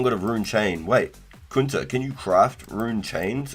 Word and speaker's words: Kunta: Kunta? Not like Kanta. Like you were just slanging some Aussie slang. You Kanta. Kunta.